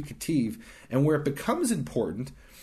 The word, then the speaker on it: Ketiv: It's spelled Q-E-R-E in English. In Hebrew, it's easy. Kufre Shud. And the Ketiv is K-E-T-I-V.